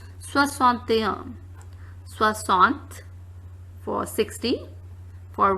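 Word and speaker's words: soixante et un: Now here the last we have 61, which is pronounced as soixante-un.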